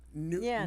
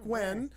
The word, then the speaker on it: Nguyen: Yen. Nguyen? Oh, when you pronounce that Yeah. when? When Duck Wen, owner of Duck's Place in New Haven, Learn that the hard Somebody way.